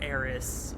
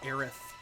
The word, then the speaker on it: Aerith: I refuse to call her Aerith because it sounds like someone saying Eris, but with a lisp. I don't... and Eris is an actual person's name, so I don't know why Aerith with the TH is the canon pronunciation now.